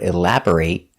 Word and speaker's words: elaborate: take a closer look we pronounce the word elaborate with a long a sound when it's a verb the pronation elaborate elaborate the stress is on the second syllable elaborate b r is pronounced bur not bore elabore but Bur elabor